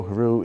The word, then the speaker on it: Heroux: what do you prefer I don't have a preference in fact if you were to look up on YouTube the pronunciation of my last name the different videos that are out there pronounce it different ways there's hero hero heru you so whatever rolls off your tongue I'm okay with you would tell me